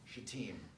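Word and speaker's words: Shittim: Joshua a lot and so whenever somebody's preaching from Joshua XI team that's the way I'd go hit that hit that second syllable that's what I would argue well Israel was staying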